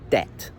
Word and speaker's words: debt: This word is pronounced debt, okay?